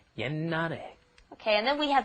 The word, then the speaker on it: 옛날에: You see that sh at the bottom there, you're thinking, 옛날에. No, that's not how it's pronounced. A lot of the time when the pachins come up against another consonant, then they will be kind of swallowed, held back, glottalized. It's called, so what you're doing is you're just pronouncing an N, 옛날에.